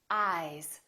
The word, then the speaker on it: eyes: these two words ice eyes listen to the difference ice eyes this s is actually pronounced as a z sound this is actually z z this is voiced